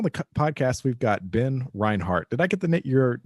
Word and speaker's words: Reinhardt: podcast we've got Ben Reinhardt did I get the your name pronunciation right okay the German uh I in the in the back okay perfect uh so Ben